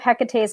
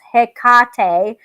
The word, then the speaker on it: Hecate: no hecate hecate or hecka t with no emphasis on the middle syllable but in ancient times her name would have been pronounced with emphasis on the middle syllable like this hekate or hekati practice that